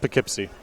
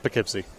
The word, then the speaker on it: Poughkeepsie: mm-hmm from Poughkeepsie just pick hypsi so I know that one don't don't pronounce it like a tourist just pick it see what do you mean